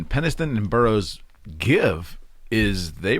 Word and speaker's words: Penniston: Well, the story of the Burroughs and Pennington, am I pronouncing that correctly? Penniston and Burroughs give is they were pretty much interrogated and threatened by the government not to talk or anything.